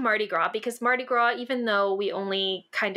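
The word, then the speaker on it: Mardi Gras: it's the Marty gr which is the Marty gr not how you say it it's just Marty GR no I agree the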